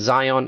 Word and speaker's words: Zeihan: His name is Peter Zeihan, and Zion is spelled as Zeihan. So that's Peter Zeihan.